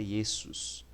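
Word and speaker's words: Ἰησοῦς: que jesus tá então em grego jesus é esse sus próximo a letra a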